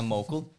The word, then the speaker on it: Mokel: Det da vel Mokel, ikke sant? Mokel. Ja. Mokel? Ja. David Mokel. Folk sier Monkel, det helt feil.